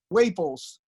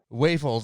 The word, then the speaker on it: Whaples: Whaples. Whaples, okay. And you are the lead. It's like maple syrup.